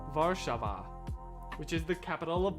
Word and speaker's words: Warszawa: It's spelled what I would pronounce as Warzawa, but apparently it is pronounced Warszawa, which is the capital of Poland.